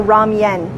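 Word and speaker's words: 라면: as the correct pronunciation unless you're Korean and then you would actually say it wrong young or ramyun with a wife sound in there also if you're having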